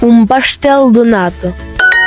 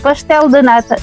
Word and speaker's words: pastel de nata: Comment on les prononce ici? Pastel de nata. Tout à fait, pastel de nata.